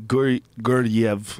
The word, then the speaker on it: Guryev: Guryev.